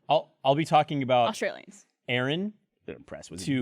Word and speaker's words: Aaron: It's Aaron. Aaron. It's Aaron. Well, then how you say like Arryn? She's like, that's all, Aaron.